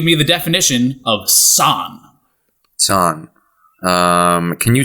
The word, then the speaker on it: san: San. Can you spell that for me? S-A-N. Okay, San. San. Like Daniel San.